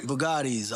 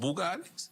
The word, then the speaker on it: Bugatti: Bugattis, all that stuff, yeah. Punganis. It's not called Bugattis. Bugatti. It sounds like you pronounce it with a.